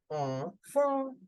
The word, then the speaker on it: enfant: Okay, whenever you see en, an, on, we always have to make the sound of on.